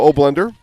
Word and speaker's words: Oblender: I was able to get that pronunciation confirmed during halftime. Andrew and Joe Oblender.